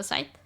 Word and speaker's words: scythe: hard seeing sight first the the scyth not Sky I alternate between the two cuz my parents growing up would pronounce as sky but I would pronounce as Scythe I'm eating cake I